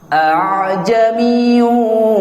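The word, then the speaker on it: أَأَعْجَمِيٌّ: Tapi a'jamiyyu wa arabi. Nah, ini cuma satu tempat, insyaallah hafal. Insyaallah hafal. Jadi cara bacanya jadi langsung seperti dialirkan.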